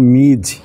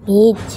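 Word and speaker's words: Ms: মিস Smith মিস Smith নতুন ইংরেজি শিক্ষক এটার উচ্চারণটা হবে মিজ হ্যাঁ এটার উচ্চারণটা কি মিজ মিজ এমএস এ মিজ ওকে মিজ স্মিথ মানে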